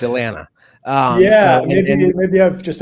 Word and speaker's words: Atlanta: It's great because uh you know you don't say that second T. It's Atlanta.